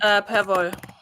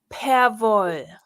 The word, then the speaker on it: Perwoll: How do you say that? Because it's a German word. Perwoll. Can you say that again, but slower and louder? Perwoll. Perwoll. Close enough. Okay, no, I want it perfect.